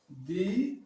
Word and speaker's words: the: दी आस।